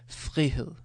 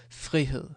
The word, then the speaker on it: frihed: So with the FR, it's a bit less. Frihed. And I can say it like very soft. Frihed, frihed, where you almost don't hear the sound.